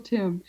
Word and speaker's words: Tymn: They're older books, but I recommend anything that Michael Tim, and his name is spelled T Y MN with there's an N. It's like him. It rhymes with him. Michael Tim.